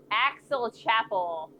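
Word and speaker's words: Aix-la-Chapelle: Uh the French name for the city of Achen is or if Axel Chapel axe pronounced like axe.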